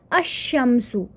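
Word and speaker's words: الشمس: रहा है अल कमरियतु, लेकिन जब मैं यहाँ पे प्रोनाउंस कर रही हूँ, आई एम असिमिलेटिंग दिस विच शद्दा के साथ पढ़ रही हूँ इसको, तो ये किस तरह से आ रहा है, अशम्सु, अशम्सिया, राइट।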